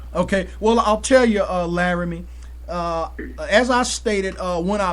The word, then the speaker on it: Larime: Am I pronouncing it right, Larime? Larime.